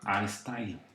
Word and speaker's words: astyle: Y esa herramienta o ese comando se llama astyle. Se escribe así: A-S-T-Y-L.